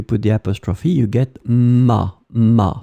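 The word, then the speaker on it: m'a: the apostrophe you get ma phonetically it's exactly the same sound Ma and Ma so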